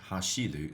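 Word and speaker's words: 走る: This is definitely pronounced hashiru, so it's hashi, right?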